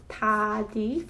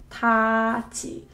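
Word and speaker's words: 닫이: So this word might seem like it's supposed to be read 다디, following the typical rule, but this is actually a wrong way of pronouncing it. The correct way is 다지. So when 디귿 받침 is followed by this very word e, then it produces z sound. Oh. This particular word is read 다지.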